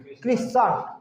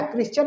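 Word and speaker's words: Christian: बोलना, इसको क्रिश्चन बोलना, क्रिश्चन सेम ना, क्रिश्चियन नहीं क्रिश्चन है, क्रिश्चन, ठीक है ना। इस तरह आपका प्रोनाउंसिएशन करोगे, टी यहाँ पर साइलेंट रहता है, ठीक है ना।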